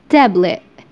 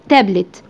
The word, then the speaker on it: tablet: حرف التي لما بيجي في اخر الكلمة قبله حرف متحرك بيتنطق ا ا. طب ينفع انطقه تي عادي؟ ينفع، بس ممكن تنطقه كده ا tablet tablet.